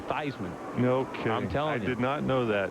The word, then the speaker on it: Theismann: hey people forget that joe thiessman that was a real way to pronounce it until they wanted to be he wanted to become the heisman trophy candidate that's when they said joe theismann no i'm telling you